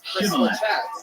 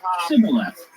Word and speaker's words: Shibboleth: When he said no, they said to him, "Then say Shibboleth." And he said, "Sibboleth." But he could not pronounce it right.